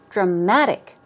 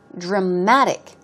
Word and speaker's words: dramatic: Stress goes on the second syllable. Dramatic. Dramatic.